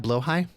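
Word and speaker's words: Blåhaj: High this is the Ikea blow High uh blahaj is uh phonetically spelled that's a good face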